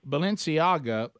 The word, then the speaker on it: Balenciaga: know anything about this how do you say the product Balenciaga Balenciaga they they had a Babylon